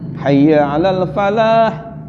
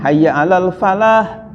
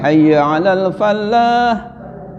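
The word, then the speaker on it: حي على الفلاح: Satu lagi, ini ketika adzan subuh harusnya kan hayya 'alal falah, tanpa syidah lamnya, hayya 'alal falah, mari kita raih kemenangan, kesuksesan, falah itu. Ini ada yang mensidahkan lamnya, hayya 'alal falah, padahal falah itu artinya farmer, bahasa Inggrisnya adalah petani.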